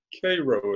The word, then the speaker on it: Cairo: I was in South Georgia, Cairo it is pronounced. Cairo, thank you.